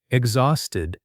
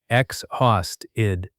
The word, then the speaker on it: exhausted: Exhausted. Pronunciation tip. stress on the second part. Exhausted.